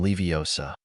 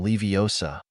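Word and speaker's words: Leviosa: towards the club wingardium leosa he tried but nothing happened to the club Ron looks at Harper takes a deep breath and this time employs the correct pronunciation and full with confident wingardium levosa he tried again a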